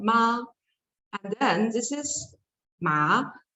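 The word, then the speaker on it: 妈: So when you speak in the first tone, these syllables together, it means mom. And in Chinese, it's called ma.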